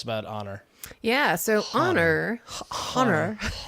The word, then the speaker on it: Honor: honor yeah so honor honor is wait honor a it's a non-silent h honor honor um actually